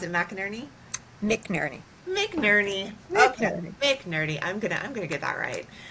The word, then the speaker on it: McNerney: Is that how you pronounce it? McNerney? McNerney.